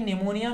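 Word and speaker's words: pneumonia: हैं निमोनिया की स्पेलिंग आपको लगता होगा कि एनडीए से शुरू होता है लेकिन पीढ़ी ए साइलेंट होता है तो निमोनिया शो देखते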